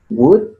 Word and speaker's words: would: Have, have to, might, will, good, al igual que could, no se pronuncia la L. Would, should, y cada uno se usa para aportar algún significado extra.